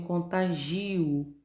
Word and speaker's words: contágio: E na letra D, eu tenho contagio. E a sílaba tônica é o gi, tá?